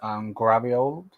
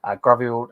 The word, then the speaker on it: Gvardiol: So the first thing I want to talk about is I'm going to butcher his name, but I think it's Gvardiol, I believe is how you say his name.